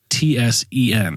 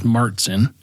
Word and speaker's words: Märzen: It is MARE Mertzen is the correct pronunciation. Martzen? Mertzen. However, in the United States, it's often pronounced as Martzen with a hard T sound.